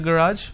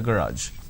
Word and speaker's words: garage: he to clean the garage or him so obviously the correct answer is him hari's mom asked him to clean the garage it's not garage it's garage a student at an